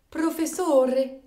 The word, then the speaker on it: professore: Ensuite, nous avons les mots accentués sur l'avant-dernière syllabe. Ils sont appelés les parole piane et ils correspondent à la majorité des mots en italien. Professore.